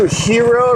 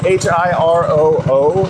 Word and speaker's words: Hiroo: I'm really into Hiroo right now. Hiroo, h i r o o. It has like two o's at the end.